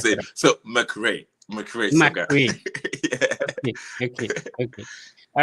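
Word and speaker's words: McRay Sogah: How do you pronounce it? No, I don't want to mess That's it it. up. So McRay Soga.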